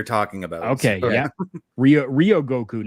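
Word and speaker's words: Ryōgoku: the stadium you're talking about okay yeah Rio Rio Goku not Ry okay yeah Rio Rio Goku uh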